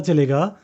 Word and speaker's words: Choi: उसका सरनेम था था सी एच ओ आई जिसको प्रोनाउंस करते हैं चे वो उल्सन सिटी साउथ